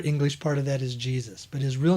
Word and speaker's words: Yeshua: lover of Yeshua Jesus his real name actually the real true pronunciation of it is Yeshua but weize it and call him Yeshua and then the real other English part of that is Jesus but his real name